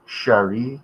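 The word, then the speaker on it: Cheri: there was a short a short-lived magazine called Sher c h e r i yep back in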